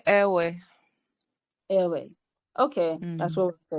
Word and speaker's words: Ewe: In my turn, I would say airway.